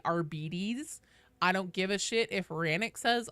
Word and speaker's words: Arbites: I don't give a if other people say it should be arbites. Games Workshop themselves says it's Arbides and their official pronunciation guide.